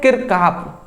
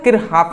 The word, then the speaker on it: Kirchhoff: हम कहते हैं बट उसका नाम क्या है किरकाप ठीक है ना किरहाफ नाम है जी जैसे कि थॉमसन का परमाणु